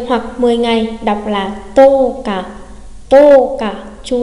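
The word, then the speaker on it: 十日: Chúng ta có toka ở đây thì trường âm của hàng to không phải là chữ ư mà lại là chữ ô, cái gốc nguyên thủy của cái trường âm đó, đúng không ạ? Nhắc lại nhớ, tô cả đây là tô ô cả, chứ không phải tô ư cả đâu nha.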